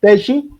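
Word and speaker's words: Teachi: Se escribe thi. T e a c h i. Pues eso haciéndole eh pauta gratuita a Teshi, que es una gran inteligencia artificial implementada por docentes para docentes.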